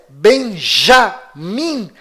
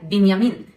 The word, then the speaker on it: Binyamin: Esta pronúncia Benjamin Netanyahu é falsa. Inclusive, no hebraico não existe letra com som de J. E o filho caçula de Jacó se chama Benjamim, ou em hebraico, Binyamin, e vem da mesma